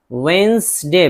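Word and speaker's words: Wednesday: इसी तरह वसडे वेंसडे British तलफुज़ में असल है वसडे बुध।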